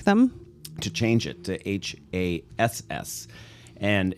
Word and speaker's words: Hass: to change it to h-a-s-s and it's pronounced hass like your rear end that's the easiest way